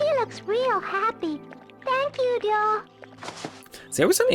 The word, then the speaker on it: Ryo: See, I always find it interesting how characters in this game pronounce Ryo's name as Dio more than Ryo. Which I understand probably, fun fact, this entire game's English dub was recorded in Japan. So that might be why. I think it's pretty more accurate to how they pronounce it in Japanese. I'm English.